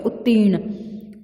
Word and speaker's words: उत्तीर्ण: पदक उत्तीर्ण सफल होना यह जो रेप है जो यह र का रूप है इसे हम हमेशा जिस वर्ड पर लगा हुआ है वर्ण पर लगा हुआ है उससे पहले इसका उच्चारण करते हैं जैसे उत्ती फिर र फिर ठीक है उत्तीर्ण उच्च शिक्षा अत्यधिक